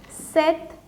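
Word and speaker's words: sept: this is scat through this is sank sis seth so here you do not have to say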